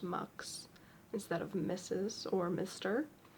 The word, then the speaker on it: Mx: do prefer milk pronounced mux sorry uh spelled MX pronounced mux instead of Mrs or